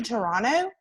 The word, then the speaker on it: Toronto: supposed to be to toronto uh you don't pronounce the t at the end um but then we